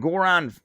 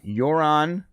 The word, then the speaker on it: Yoran: Hey, we got a members chat from Goran. I'm saying it wrong. Yoran Valve.